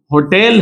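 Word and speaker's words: hotel: जैसे यहां होटल है तो यहां एच प्रोनाउंस होगा, लेकिन इसमें प्रोनाउंस नहीं होगा।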